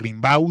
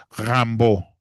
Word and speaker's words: Rimbaud: que es Arthur Rambo, no Arthur Rimbau, sino Arthur Rambó, así es como se pronuncia en francés, porque ya sabemos que las terminaciones en francés, pues bueno, no se no se leen como se escriben, sino que tienen entonces la terminación au no se pronuncia la d, sino es Rambo, así debería de ser,